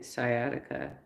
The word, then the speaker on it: sciatica: Channels that can't even pronounce that it's sciatica it's it's not sciatic what are you doing